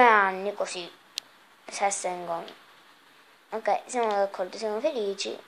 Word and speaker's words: Sessegnon: E ora andiamo a acquistare Steven Sessegnon. No, non si pronuncia così. Sessegnon.